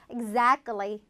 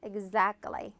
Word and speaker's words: exactly: exactly 이거 exact 틀리처럼 발음하시는 분들이 있는데 끼는 틀리처럼 그게 아니고 exactly 끌리처럼 발음하셔야 돼요. exactly.